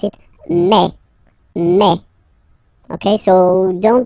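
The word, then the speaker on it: mai: so really open E okay and then you pronounce it me me okay so don't pronounce e don't try to pronounce it no it's me me so it's not my it's me okay and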